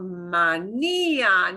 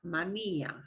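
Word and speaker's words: manía: When you see an accent mark, that's an example of how you punch the syllable that gets the accent mark, mania. Not mania, but mania. Mania.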